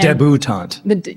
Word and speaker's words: debutante: I do know how to say it. I know how to read it. It's debutante. That's why she's here.